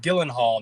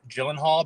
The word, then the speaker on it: Gyllenhaal: Halls Jake and Maggie supposedly it's Gillen Hall not Gyllenhaal but everybody just says it incorrectly so that's just how you're supposed to say it Magie gyllen Hall